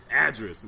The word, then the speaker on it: Adris: The winery was a little off. It was address, like just like an address.